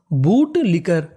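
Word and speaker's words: bootlicker: सीके को हम लोग इंग्लिश में पढ़ते हैं का। अगर आपको कहीं पर सीके लिखा मिले तो उसका उच्चारण करना है का। और आखिरी में ER, तो ER को पढ़ेंगे अर।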